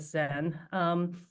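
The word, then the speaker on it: Zhen: You can pretty much ignore the H in the spelling, so I just pronounce it Zen.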